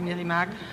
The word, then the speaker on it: Meramec: Plus lesquelles, petites par exemple, qu'on est Voyons, la Meramec, qui s'écrit Meramec, mais qu'on prononce ici Meramec.